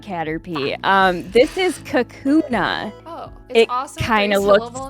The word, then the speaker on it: Kakuna: Caterpie um this is Kakuna oh it kind of looks like a cocoon yeah it is a three syllable name I actually have never